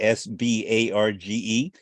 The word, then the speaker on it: Sbarge: Raphael Sbarge, I think I pronounced it correctly, S-B-A-R-G-E, not Yes, Sbarge.